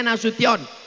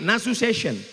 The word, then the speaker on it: Nasution: Cara bacanya Nasution. Karena ada orang naik pesawat sampai di airport transit dipanggil namanya orang orang metu. Kenapa dia salah dengar waktu dipanggil Nasuation?